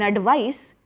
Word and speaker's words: advice: slight difference in pronunciation in advice with an s sound it is a noun you can give your friend some advice it has sa sound s sound in advice a d v i